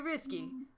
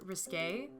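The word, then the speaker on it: risqué: is this your idea risky it's actually pronounced risque well my heart is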